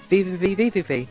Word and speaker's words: VVVVVV: Number 171 is VVVVVV, if that's how you pronounce it. I've also heard it being pronounced as just V, but I call it VVVVVV.